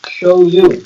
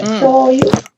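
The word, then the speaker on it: 醤油: Shoyu. That's how you say it in Japanese, by the way. Shoyu.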